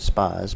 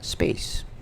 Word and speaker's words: Spaaze: review of space um I first pronounced it Spas but evidently it's pronounced space like space hence the rocket ship so if you go